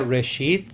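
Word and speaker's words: ראשית: Esa palabra principio se pronuncia reshid y lo que quiere decir es el comienzo, el principal, lo más grande.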